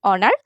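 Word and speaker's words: honour: শুরুতে এচ থাকলেও আমরা উচ্চারণ করেছি অনার।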